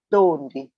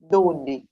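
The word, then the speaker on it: dónde: So because there is an accent over the O, you find yourself with the correct pronunciation will be donde. Donde.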